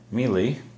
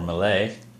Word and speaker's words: melee: hand hand to hand melee or mlay whichever is your uh pronunciation where you're from and uh you know